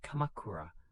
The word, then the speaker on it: Kamakura: Rather than ruling from Kyoto, he set up his headquarters in the eastern town of Kamakura, pronounced Kamakura.